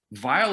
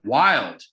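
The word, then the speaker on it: vvilde: Vile is wrong, brothers and sisters and others, wrong, okay? And I'll tell you why. Because if you look at the folio, it says things base and then the word is spelled V-V-I-L-D-E, okay? The editors in the 1800s thought that was vile. They're wrong. Base and vile mean the same fucking thing, right? Base and wild are different, and wild makes a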